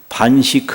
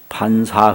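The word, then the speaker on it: 飯食: 그러니 ' 반식 ' 이라 고 읽으면 안 됩니다 . 'bansa' 라고 읽어야 합니다 .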